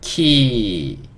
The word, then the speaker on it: key: K는 Q. E는 여기서 뭐 특별히 역할이 없는 것 같아요. 뭐 묵음이라고 할 수도 있겠죠. 그 다음에 Y는 그냥 E 소리가 납니다. 그러니까 그냥 요거 합쳐져서 요거랑 만나니까 키 이렇게 읽을 수 있고, 키라는 거는 열쇠죠.